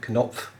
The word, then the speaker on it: Knopf: in the comments that you pronounce the K and the O and the N, the O, P and the F, Knopf, as the Germans would.